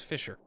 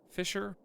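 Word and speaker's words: Fischer: It was Fisher, with a S-C-H-E-R. Fisher. Fisher was butchered.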